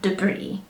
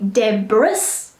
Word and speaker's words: debris: alright we call that debris try not to say Deborah's alright as I often hear and silent is its debris okey-dokey so we've covered